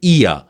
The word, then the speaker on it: ear: Example देखें, EAR, तो आर एंड में है, लिहाजा इसको पढ़ा ही नहीं जाएगा, साइलेंट है। ब्रिटिश इंग्लिश में इसको पढ़ेंगे ईया, वो, खा, एयर, बट्टा, pair, डियर, hair, sister, voter, lover, runner.